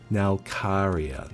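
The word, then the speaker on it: Nalcarya: I keep mispronouncing her name, man. Every time I I pronounce her name. Nyra. Nalia. Aluria. That's different. Her name is Nalcaria.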